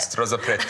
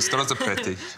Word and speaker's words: Strozzapreti: Strozzapreti. I'm going to let you say it. So you just roll through it, Strozzapreti.